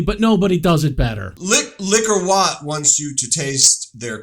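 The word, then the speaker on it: Liquor Whaat: Well, I think it's the pronunciation, right? It's Liquor Whaaat.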